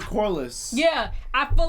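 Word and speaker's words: Corlys: like taking um um Laura corlias how do you say I'm sorry guys I keep saying his name wrong Lord Corliss yeah I feel like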